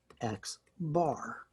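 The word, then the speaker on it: x̄: so that's my sample mean again it's called x bar is the way we pronounce that let's erase that see the formula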